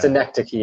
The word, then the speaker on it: Synecdoche: yes, this is like hitting me right Cinedoki, New York, or however you now." say it, was Yeah, that way for me. Schenectady, New York. Yeah, Synecdoche. Oh my God, I always say it wrong.